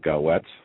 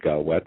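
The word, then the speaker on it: Gaouette: us attorney for Colorado his name is uh goette David gaet I believe is how you pronounce it he called up the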